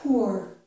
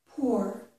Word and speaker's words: poor: So it has the same vowel sound as book, but when combined with this r or r, it becomes poor, poor.